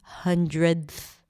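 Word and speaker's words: hundredth: Try it to pronounce it with that DTH at the end, 100th.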